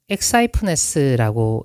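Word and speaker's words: ἐξαίφνης: 13절에 나오는 호련히라는 단어는 엑사이프네스라고 읽습니다. 그리고 그 뜻은 suddenly, 갑자기라는 뜻입니다.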